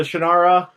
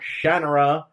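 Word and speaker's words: Shannara: a kid Shakira no not like Shakira not like Shakira at all yes maybe it has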